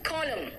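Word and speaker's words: column: एन कहाँ silent है देखो तो, इट्स सोलेम, एन है लेकिन मैंने क्या कहा, सोलेम, ऑटम, हेम, मंत्र को हेम कहते हैं, हेम नहीं कहते, कॉलम, एन साइलेंट है ना।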